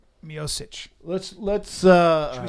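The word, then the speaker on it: Miocic: and I know how to say his name mosich let's let's uh should we start with that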